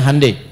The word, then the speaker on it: Hyundai: Ya Hyundai saya tahu bahasanya dibacanya Hyundai.